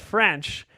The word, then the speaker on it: Ffrench: there's a gentleman named Maurice French and yes that's spelled French FF re and CH Bonjour as it were